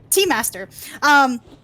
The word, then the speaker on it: T-Master: That being said, I have been pronouncing T-Master's name wrong. It is not Tuster. It is T-Master.